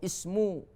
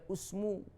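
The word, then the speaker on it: اسم: Contoh apalagi ini ibna, ya, ibnat, imruun, ya, imro'atun, itsnaini, itsnataini, isma atau ismu, ya. Tidak boleh usmu, tapi ismuhu, ya.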